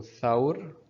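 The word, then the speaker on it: ثور: So Thawr, Thawr. We have Thawr, which means a bull. If you notice, we have Fatha above Tha, so that's why we are pronouncing Tha, Thawr.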